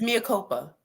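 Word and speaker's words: Mea Culpa: What's the pronunciation? It's Mia. It's Mia Copa.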